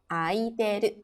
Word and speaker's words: 空いている: Ya, karena dia bertemunya sama hiragana, tidak bukan dengan kanji. Jadi dibacanya aiteru.